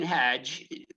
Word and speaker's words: Hajj: hear me um Hajj singer songwriter it's actually Haj rhymes with frage she says uh and